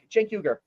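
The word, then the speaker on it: Cenk Uygur: uh yeah uh CH uh CH uh Jen Jen yuger Jen yuger right thank you thank you uh sorry for the pronunciation guys I don't watch the young tur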